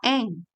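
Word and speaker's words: 円: seperti ini ya minasang Nah ini tuh dibacanya Eng gitu ya nah sekarang kalau misalnya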